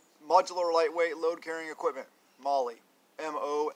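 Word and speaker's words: MOLLE: that is your modular lightweight load carrying equipment Molly mo l le and that's how you properly pronounce it also with Molly MRE meal ready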